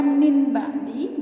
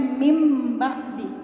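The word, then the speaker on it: مِنْ بَعْدِ: Maksudnya adalah yang awalnya min ba'di dibacanya mim ba'di, ya. Jadi biasanya ciri-cirinya itu di huruf ba-nya itu ada mim kecilnya teman-teman, ya seperti ini. Jadi bacanya mim ba'di.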